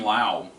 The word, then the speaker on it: Lau: But this is done by Kevin Smith and Jonathan Lau. I'm pronouncing it Lau. It's L-A-U. I might be wrong.